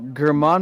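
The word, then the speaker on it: Germán: It's gotta be Herman.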